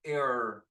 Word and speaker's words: air: Entonces acá tienes una combinación de AI, que se pronuncia E, como la palabra cabello, air, la palabra silla, chair, o aire, air.